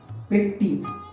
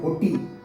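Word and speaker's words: பெட்டி: Although in the slang they call it potti. We use periye potti, chinna potti, and so on. Potti means box, but then when we write it is not written as potti, it is written as petti.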